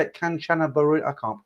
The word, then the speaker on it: Kanchanaburi: I can't pronounce it. Kanchanaburi.